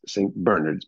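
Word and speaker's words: St. Bernard's: Bernards St Bernards but it's pronounced St Bernards because it's British and it was established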